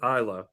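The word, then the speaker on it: Aila: her life so uh it's spelled a i l a and we pronounce it isla and it means like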